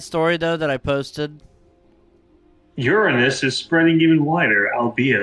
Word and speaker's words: Uranus: Uranus is spreading even wider, albeit a little later than it. Yeah. See, it's pronounced Uranus, okay? All you people out there. The Fudge Factory is pronounced Uranus.